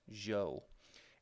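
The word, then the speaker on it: Zhou: zi h o u it's pronounced Jo and this Jo family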